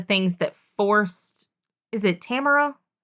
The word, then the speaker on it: Tamara: kind of the things that forced Is it Tamara? Yes. Am I pronouncing it right when I say Tamara?